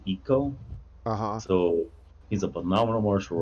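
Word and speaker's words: Iko: i think it's like eco yeah i ko i think it's pronounced eco so he's a phenomenal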